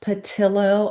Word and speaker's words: Patillo: Yes, it's pronounced Patillo. I know a lot of people like it's not Spanish.